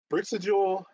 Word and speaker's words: Brixajol: But long story short, Brixajol is how you say it, and then, you got that one accurately.